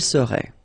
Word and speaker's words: serait: seriez, il serait, elle serait. Okay, so we'll see that one more time. Je serais, same thing here, final S not pronounced. Tu serais, final S not pronounced. Il serait, final T not pronounced.